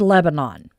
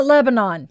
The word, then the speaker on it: Lebanon: She pronounced it Lebanon. I Yes, it's Lebanon down in Oregon. The locals call it Lebanon.